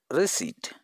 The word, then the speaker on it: receipt: call it the newest receipt and here RP is the silent and it is also called receipt not receipt